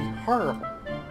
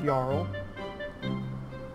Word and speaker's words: Jarl: Because an H would be Harl, not Jarl. It's like the J is silent, it's weird.